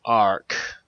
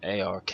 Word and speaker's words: AR-K: to what this is it's called arc or as i initially have called it ark as that's kind of